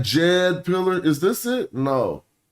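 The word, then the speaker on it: djed: Yes, S DJ R, but you just put a capital D and it's pronounced as a J. When we say Jed pillar, is this it?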